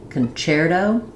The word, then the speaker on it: concerto: Both of these words say the ch sound because they come from the Italian. And so in the Italian language, the CHEL-oh and concerto, the letter C says the ch sound, which is why these break the spelling rules of English.